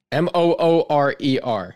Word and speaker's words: Moorer: Spell it right now. M-O-R-R-E-R. M-O-O-R-E-R.